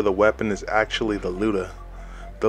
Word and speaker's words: Lyuda: the white death slash luda are the layuta which it is more commonly referred to in